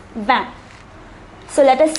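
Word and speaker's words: vingt: number 20 it is notice that the t at the end is silent for number 20 it is van so let us say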